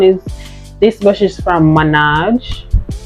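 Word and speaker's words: Maange: this brush is from Minaj I guess it's pronounced manage it's m-a-a-n-g-e so this is pronounced manage and it's a slanted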